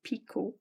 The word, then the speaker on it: picot: I see of T it's a French word you do not pronounce the T at the end so it's picot and to make a